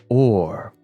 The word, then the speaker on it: hour: particular bit there see the word our did not Ed to be pronounced our it used to be pronounced or can you see the